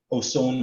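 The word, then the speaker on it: Oson: Say it again. Ozone Wine Cellars. It's spelled O-S-O-N, Wine Cellars.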